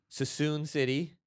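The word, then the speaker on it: Suisun City: Sassoon City. So that's how you pronounce it. Yeah. I think City. so. It's not. I'm pretty sure it's Sassoon. Yeah.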